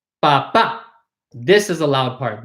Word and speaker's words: papá: Notice the accent on the A, right? Papa, there's a line on top. So this is the emphasized syllable.